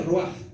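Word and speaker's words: רוח: espíritu santo y segundo en hebreo el espíritu o espíritu se dice o se pronuncia roja por eso es que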